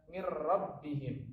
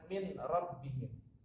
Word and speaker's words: min rabbihim: Maka cara bacanya adalah mir rabbihim, bukan min rabbihim.